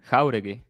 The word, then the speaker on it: Jauregui: Okay, so I don't disagree that I think Yargui. How do you say it? Jargui. Jauregui. Jauregui. Like when you say jamon, you know, ham?